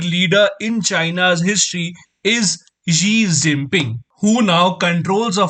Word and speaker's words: Xi: In 2014, the Chinese President Xi Jinping visited India. And on the day when he was landing in India, a poor Doordarshan news reader pronounced his name as 11 Jinping. That is 11 Jinping.